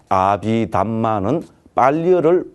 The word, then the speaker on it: 아비담마: 그런데 아비달마 혹은 아비다르마는 산스크리트를 발음한 것이고 아비담마는 빨리어를 발음한 것이다.